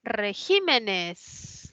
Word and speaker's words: regímenes: Luego está la palabra regímenes, ¿no? Que tiene la mayor fuerza de voz en la I, es esdrújula, colocó tilde.